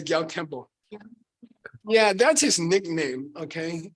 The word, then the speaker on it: Gyal Kempo: Say Gyal Kempo.